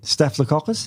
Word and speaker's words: staphylococcus: it the caucus no what is it yeah staphylococcus the caucus yeah yeah so carefully i say